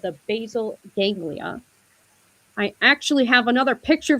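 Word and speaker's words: basal ganglia: Now from a neuroscience standpoint, habits live in a part of the brain called the basil ganglia.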